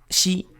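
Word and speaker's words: 四: Porque 4, shi, se pronuncia exactamente igual que la palabra muerte en japonés, shi.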